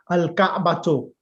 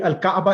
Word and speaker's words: al-Ka'batu: So the time marbuta, normally Al-Kaaba is correct, but when you're learning the language, it's important that we learn the time marbutas pronouncing Al-Ka'batu so that you become familiar with the time marbuta at the end.